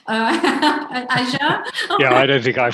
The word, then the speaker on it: Azure: play with some of the tools, which I pronounced wrong, Nick. So it's actually Azure. Azure.